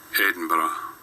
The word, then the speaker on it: Edinburgh: How do you, let's go to how do you pronounce? Oh. Edinburgh. Aha! Okay. Edinburgh.